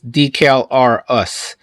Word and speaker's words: Decalrus: here the calvaris or probably they want you to pronounce this decal r us and uh they don't